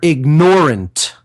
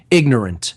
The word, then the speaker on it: ignorant: I'm going to stop using the pronunciation ignorant and totally condition myself to constantly saying they are ignorant because of the emphasis of ignore.